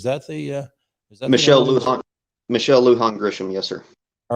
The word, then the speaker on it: Lujan Grisham: and forgive me because I'm sure I'll brutally mispronounce her middle name. Is it Lujan Grisham? Is that the Michelle Lujan? Michelle Lujan Grisham, yes, sir.